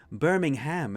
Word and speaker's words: Birmingham: which states in but in America it's called Birmingham they really pronounced the ham on it Birmingham it's but here where the name actually came from it's just Birmingham it's an Alabama yeah